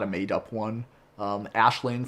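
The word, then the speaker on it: Aisling: a made-up one um ashlane from ashland leprechaun same thing if you're looking that word up it's a-i-s-l-i-n-g uh not not uh not pronounced nearly the same way as what it spelled um it's it's actually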